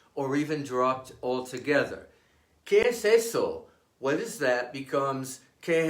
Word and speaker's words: ese: The Spanish word for this letter is ese. It is pronounced like the S in saint and never voiced like the S in easy.